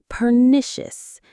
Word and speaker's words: pernicious: Pernicious. The stress is on the second syllable.